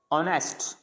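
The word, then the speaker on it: honest: ऑनेस्ट, अब इसमें भी एच नहीं बोला जा रहा, ऑनेस्ट।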